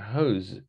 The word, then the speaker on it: hose: And the pronunciation and the word is a hose. Hose. It's like a house, but it's shorter and it's like a z, hose.